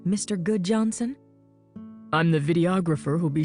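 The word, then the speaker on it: Gudjonsen: My name is Good Johnson, spelled G U D J O N S E N, but pronounced Good Johnson. Am I supposed to recognize your name, Mr. Good Johnson?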